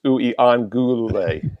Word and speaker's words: Uiagalelei: It's Uiagalelei. I'm pretty close on that one. 6 syllables.